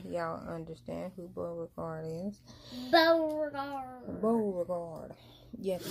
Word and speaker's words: Beauregard: Beauregard.